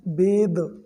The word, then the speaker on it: bathe: लेकिन जब ई रहता है तो इसको पढ़ते हैं बेद, ठीक है।